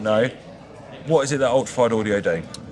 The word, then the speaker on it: Ultrafide: I am Brad and I'm joined by Mark from Ultrafide. I was just checking your card to make sure I say it right. Yeah, Ultrafide audio. Oh, yeah. Ultrafide audio. I was about to say ultrafile audio, and that's a new